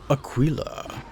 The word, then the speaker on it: Aquila: people earn their own achillas and by the way I might be mispronouncing that like Aquas I don't know I just pause and look at a YouTube video apparently it's Aquila it's very good very fancy